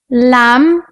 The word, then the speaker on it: lamb: Like the letter B in bomb, climb, lamb, some. Like the letter C in muscle, scent, scissors. When we put C and H together, it sounds like ch.